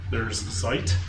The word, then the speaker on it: Zeit: But there's Zeit, that's how I pronounce it.